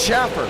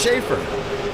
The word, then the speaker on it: Schaefer: myself, oh, that's Chase Schaffer. No, it's not Chase Schaffer. It's Chase Schaefer.